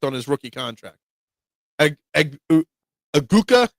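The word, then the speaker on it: Egbuka: Aguka. How do we say his name? I've seen like four different spellings of this guy's name. It's Eggbuka. E G B U K A.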